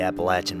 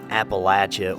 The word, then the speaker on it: Appalachia: and Appalachia further north it really is dialectically based on where a person is from but I've heard exceptions